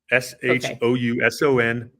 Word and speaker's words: Shouson: Shouson.